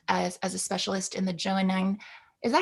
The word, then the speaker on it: Johannine: Pauline is especially keen and skilled as a specialist in the Johannine. Is that how you pronounce it? Johannine? I hope so. They say Johannine.